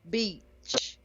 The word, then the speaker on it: beach: So, yeah, the key difference is the tongue is relaxed. You stopped it in the back of your throat for beach, and you hit the vowel sound well as well.